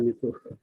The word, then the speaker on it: MITO: pembelajaran sosial emosional dengan menggunakan metode MITU, sebut dibacanya MITU.